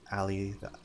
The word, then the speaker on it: Ali: So, oh, I have a IRL nickname, Ali. The I is silent. So Al. It feels cozy. The story is a bit intense. Pronounced like Al. Yeah, like Al.